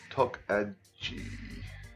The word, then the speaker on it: Tokaji: I know you told me how to pronounce it. Alright. Tokaji.